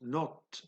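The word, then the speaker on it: knot: vitesse de 14 noeuds qu'on écrit cat et qu'on prononce note en anglais si vous regardez wikipedia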